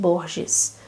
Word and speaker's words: Borges: So I bought here Ficciones by Jorge Luis Borges, or here in Brazil it is pronounced Borges.